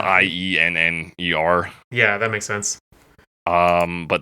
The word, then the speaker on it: Ienner: I'm assuming it's pronounced Yenner. Yeah, it's Ienner.